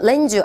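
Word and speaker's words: lend you: 있는데 빌리다 뜻이 있는데요 시험에서 랜유 해서요이 발음이 렌즈라고 발음이 많이 되기 때문에 랜유 렌주 그냥 우리 붙여서 렌주 알아두셔야겠죠 그래서 어 제가요 스이리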